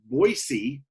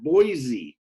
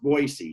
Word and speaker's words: Boise: that's true you know it's pronounced with an S not a Z so Boise and we all make